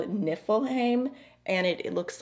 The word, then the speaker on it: Niflheim: say these things okay i definitely would have pronounced that wrong without the help of google this shade is called niflheim and it looks like a matte deep blue